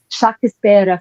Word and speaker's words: Shakespeare: Know the second you're talking about Shakes the Shakespeare the Shakes the Shakisper family as it would have been pronounced in 16th century English.